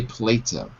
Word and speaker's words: Plato: sorry PL Plato PL in English we say Plato Plato all right Daniel